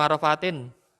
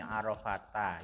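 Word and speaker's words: عرفات: Oh, Arafatin. Ya, keliru lah. Kayaumi Arafatin. Salah. Ngarfati. Keliru. Kata Arafat. Keliru ya. Zainal. Arafata ya. Arafata. Karena kan dia isim alam.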